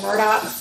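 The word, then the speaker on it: Murdaugh: the news of these they call them the murdock but they're not spelled the murdochs just by the way it's spelled murdered and the father is the one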